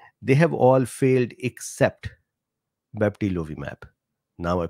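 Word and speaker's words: bebtelovimab: a separate thing they have all failed except baptilovi map now I pronounced it correctly Denise says what Dr Bean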